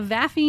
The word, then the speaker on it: vafi: Next are a whole race of NPCs, the vafi gnomes that I described earlier. I spell it V-A-F-I, and the vafi gnomes are a